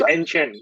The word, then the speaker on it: AnChain: How do I pronounce AnChain, yeah, so AnChain, AnChain.ai.